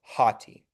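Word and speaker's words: ὅτι: Um, so this one has the rough breathing, so we're going to go hoti. Um, so we have the rough breathing mark there. So, we know that it's going to start with a H, right? Mhm. So, we have the Ha. Then, the next letter is a T.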